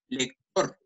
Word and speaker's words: lector: Por ejemplo, lector, ¿sí? Lector lleva el acento en tor, pero como no termina en N o S, no se tilda.